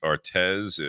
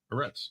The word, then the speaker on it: Aretz: there, Lou's out there, Jake Artez, or Aretz, excuse me. Jake, I haven't seen you in a while. How do you say his last name? Aretz. Aretz, yeah, that's what I thought.